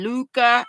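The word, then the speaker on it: Lykke: I was telling y'all how to say l y k k e Luca and then I said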